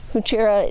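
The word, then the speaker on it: Heuchera: online, and it just says, It tells you. Huchera. Yeah. and it's like, okay, that's how you say it.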